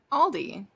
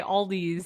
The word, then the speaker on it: Aldi: Aldi. Me and my family say Aldi's. No. And I know it's wrong, but now I can't undo it.